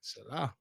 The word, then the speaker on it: Salah: one religion I study them all but lately Salah how you say that Salah you said right you said right bro y